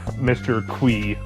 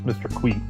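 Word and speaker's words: Mr. Qi: I Every time I think of Mr. Que, I always think David Bowie.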